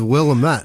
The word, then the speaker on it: Willamette: It is Willamette.